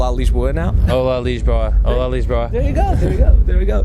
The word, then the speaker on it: Lisboa: power right beach boy lisboa not Lisbon okay no no no because at least was so its allies is hola it opens up the the a is openly pronounced and the college boy lisboa like imagine a J like leash lisboa his RSS when they're usually closed it's really leash I gotta know the